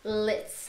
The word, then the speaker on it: lit: E você poderia explicar pra gente esse tal de lit. Lit. Like, that is cool. Yo, that party was lit. Esse T então não é tão pronunciado assim, né?